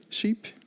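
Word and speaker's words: CHEAP: Berlin based Collective uh sheep or c h EAP I don't know how do you pronounce the collective's name sheep so I did it right and Erica bosam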